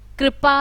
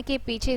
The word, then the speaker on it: कृपा: इसके बहुत सारे शब्द होते हैं, जैसे कृष्ण है, कृपा है, दृश्य है, और इसका जो उच्चारण होता है वो री होता है, री, कृष्ण।